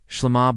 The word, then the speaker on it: Shlama: Shlama, both syllables carry equal weight. The final ma lands with a sense of completeness and arrival.